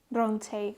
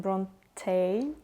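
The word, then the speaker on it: Brontë: And I also just binge read Pride and Prejudice by Jane Austen and Jane Eyre by Charlotte, how I should pronounce it? By Charlotte Bronte? Bronte, okay.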